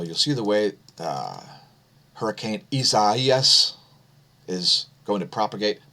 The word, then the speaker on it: Isaias: And so you'll see the way Hurricane Isaias is going to propagate. Pardon my mispronunciation yesterday. I was not aware that it's Isaias.